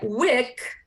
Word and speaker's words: wick: This week is a long vowel, week, and wick is a short vowel.